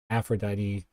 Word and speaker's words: Afaedite: So I just want to reiterate again, that's Aphrodite on Twitch. It's spelled AFAEDITEE.